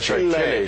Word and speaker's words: Chile: days we went to Chile Chile let me pronounce it correctly Chile Chile I just Chile dogs that's